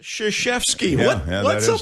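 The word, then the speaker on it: Krzyzewski: uh the name is spelled krazewski but it's pronounced shashefsky that's a perennial question i mean coach k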